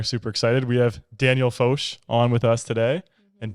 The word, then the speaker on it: Foch: before is it bad no that was perfect people pronounce it I've listened to your speaker I get sworn out a lot Daniel Fox it's about f-o-c-h so and actually like